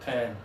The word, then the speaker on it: pen: So what's important is your mouth open or are your teeth closed? Okay? Again, some students say, Nick, do I really need to say, can I borrow a pen? Okay. No, just make sure you don't open too much.